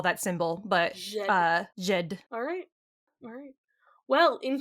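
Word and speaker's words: Djed: How would you So, pronounce this? Jed? does it say? Jot? Jed. Jed.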